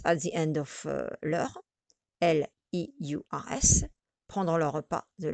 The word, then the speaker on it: leurs: You will notice that I say no or vos. I don't say nos, vos. I don't pronounce any S. I say no, vos, because you don't pronounce the S, the final S.